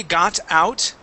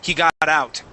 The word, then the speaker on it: got out: lot okay um but when we say got out okay we don't pronounce that t we actually pronounce uh the word God okay he got out God he got out